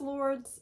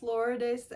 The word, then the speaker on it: Lourdes: Demon Brothers romance, and it is not pronounced Lourdes, it's pronounced Lourdes. It is a Mexican name, so you know, she said that she doesn't blame anyone for saying Lourdes, but she did give a tutorial on how to say it, so that's how you say it.